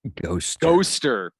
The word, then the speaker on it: Ghoster: Ghoster. It rhymes with coaster.